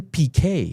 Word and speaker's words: Piquet: But it's pronounced Nelson Piquet. Piquet.